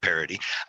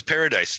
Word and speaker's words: Paradis: the ink master Super Fan video of Derek parody and I didn't I thought it was Paradise the whole time I've been calling you oh